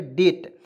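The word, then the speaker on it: debt: ट, तो क्या पढ़ेंगे, डेट। तो डी ई बी टी, डेप्ट नहीं पढ़ेंगे, डेट पढ़ेंगे।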